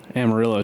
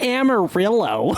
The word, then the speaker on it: Amarillo: It's a Mexican word, man. It's not Amarillo. Yeah. It's Amarillo. Amarillo. But, hey, no one in Texas pronounces it that way.